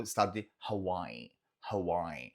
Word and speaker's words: Hawaii: é o estado de Hawaii. Hawaii. E pode ser que você ouça também esse I prolongado no final, falando Hawaii, Hawaii, Hawaii. É uma outra possibilidade.